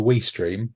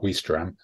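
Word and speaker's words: Ouistreham: So if you're ever taking the ferry to Weestream, which I believe is how it's pronounced, not Weestram, you should stop and look at Caen Castle, because that's very jolly.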